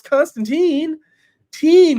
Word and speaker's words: Constantine: describe it um he said Constantine Constantine is pronounce Constantine teen you like um so John